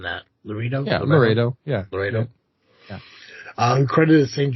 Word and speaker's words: Loretto: builders were considered miraculous by the sisters of Laredo Lo. How am I how am I pronouncing that? Loredo Ledo. Yeah, Loredo.